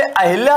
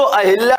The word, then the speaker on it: अहल्या: अहिल्या तो जो ये अहिल्या लिखा है ये अहिल्या गलत है शुद्ध जो अहिल्या लिखा जाएगा वो कौन सा लिखा जाएगा अहिल्या जो शुद्ध लिखेंगे वो कौन सा होगा अहल्या होता है अहिल्या नहीं होता अहल्या